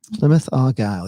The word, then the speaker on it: Plymouth Argyle: So, Endura says you gained another subscriber just for properly pronouncing Plymouth Argyle. Plymouth Argyle, yes.